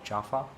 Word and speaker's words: Chafa: them correctly but uh it seems that it's sh or chafa as we call it in India CH uh with a hard CH sound uh not like Charisma or Riz as the